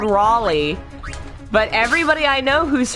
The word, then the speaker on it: Raleigh: from Lovecraft's Cthulhu really Raleigh huh that's funny though most people who don't live here call it relay yeah relay that's how people outside it's called Raleigh but everybody I know